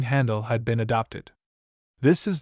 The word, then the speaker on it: Handel: Handel's extant letters do not amount to more than